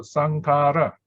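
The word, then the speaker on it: saṅkhāra: It's not k here, by the way, it's kh.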